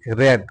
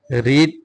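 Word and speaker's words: read: how long has হি রেড উচ্চারণটা হবে এটা রেড কারণ past participle past and past participle ফর্মটা রিড স্পেলিংটা ঠিকই আছে বাট উচ্চারণটা হবে রেড হ্যাঁ আপনারা যারা না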